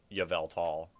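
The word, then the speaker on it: Yveltal: Yavevelt. I pronounce it yeave tall.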